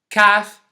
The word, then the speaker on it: calf: yok cough and half you can notice again that there isas a letter that I didn't pronounce this time and that's the letter L here the rule is